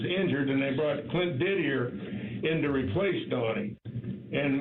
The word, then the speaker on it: Didier: go Clint Didier, and his name is Didier, but I guess they give it the French pronunciation.